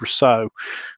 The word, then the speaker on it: Rousseau: he's like the french how do you say it i've heard americans say all different things it's rousseau because it's like a french name isn't it so rakan